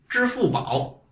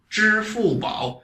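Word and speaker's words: 支付宝: Alipay in Chinese is 支付宝. 支付宝. You're going to find this ZHI really difficult for you to pronounce.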